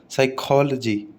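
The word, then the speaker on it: psychology: पी या पे always remain silent in sequence of पी एन और पी एस। कभी भी पी और एन एक साथ लिखा हुआ आ जाए, पी एस लिखा हुआ आ जाए एक साथ, तो हमेशा पी साइलेंट रहेगा। जैसे साइकोलॉजी, साइकोलॉजी, साम, साम, न्यूमोनिया, न्यूमोनिया, न्यूमोनिया। ठीक है, पी नहीं बोला तीनों में।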